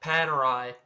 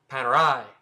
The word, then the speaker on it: Panerai: Now it's a different story, but founded in Italy, so you pronounce it like an Italian. It's not Panerai, it's Panerai. Panerai.